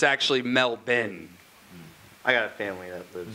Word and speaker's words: Melbourne: there she told me that that's how they pronounce their city it's it often gets confused with Mel born but it's actually Mel Ben I got a family of the more you